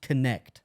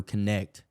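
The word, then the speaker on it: Knecht: has a player I just learned how to pronounce his name this past weekend dton Dalton connect oh connect he is a certified he is a certified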